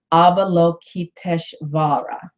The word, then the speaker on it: Avalokiteshvara: And Kuan Yin is derived from the original Indian bodhisattva, which is pronounced Avalokiteshvara.